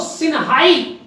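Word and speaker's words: Xinhai: यहां पर एक्स जो टर्म आता है उसको सा जैसा प्रोनाउंस करते हैं चाइना में, आपको ध्यान रखना, ठीक है। तो इसको सिया बोल सकते हैं, इसको सिनहाई रेवोल्यूशन, ठीक है।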